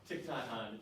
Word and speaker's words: Thich Nhat Hanh: Thich Nhat Hanh is how you pronounce his name.